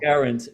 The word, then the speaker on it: Geraint: names being pronounced wrong no one can say guarant so guarant okay one of my